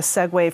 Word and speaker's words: segue: So speaking of comedy, right, you talk about having a segue from one joke yes.